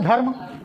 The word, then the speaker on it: धर्म: तो इसको इसका उच्चारण क्या हो गया? धर्म। र बहुत कम दे रहे है ना?